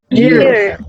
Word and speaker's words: year: Year. ¿Ya? Ahora fíjense, cuando pronunciamos here, tenemos que tener cuidado con la I, porque algunos dicen G. Y ese sonido no está. ¿Ok? Es I. Year.